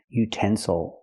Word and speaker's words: utensil: Again the third syllable is not stressed. So we cannot say ill. We have to say oh utensil.